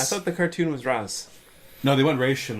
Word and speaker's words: Ra's: way yeah and then the cartoon took race and then Manola and trilogy went the route of Roz so the cartoon was Russ no the one raishin